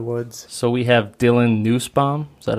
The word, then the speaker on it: Nussbaum: So we have Dylan Nussbaum, is that how you say it? Yep. Dylan Nussbaum, who as of a month ago, month and a half, won the Cabelas NWT over in Devil's Lake.